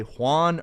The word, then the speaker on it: Juan: anyone who goes the extra mile to say Juan or at least try to make it with